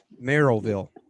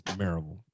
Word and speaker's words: Maryville: Merrillville. No, it's Maryville. That's how we say it down south, Jake.